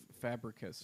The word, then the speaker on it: Fabricius: but- Absolutely Fabricus.